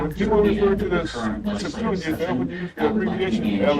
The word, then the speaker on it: Septuagint: Certainly, the word Septuagint is pronounced as Septuagint.